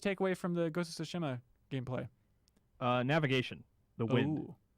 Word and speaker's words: Tsushima: I'm sorry, Tsushima. I got to get used to pronouncing that right.